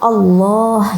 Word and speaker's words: Allah: Lafzul jalalah ini adalah lafal Allah gitu teman-teman. Kalau bisa melafalkan yang fasih ya teman-teman, benar-benar dibaca Allah gitu. Gimana nih, kan kadang orang itu ada yang bilang Allah gitu ya, Astaghfirullahaladzim, Subhanallah, ya Allah, apalagi sampai ya Allah.